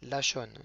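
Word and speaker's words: לשון: Numéro 11, c'est la langue, lachon, donc c'est le lamed, la plus grande lettre, c'est celle qui est la plus haute, avec un kamatz, donc le petit t qui se trouve sous la lettre, donc c'est le son A. La, le shin avec le point en haut à droite, qui est accompagné d'un cholam vav, donc c'est le vav qui est tout de suite après le shin, avec le point au-dessus, O, donc la sho, et le nun sofit,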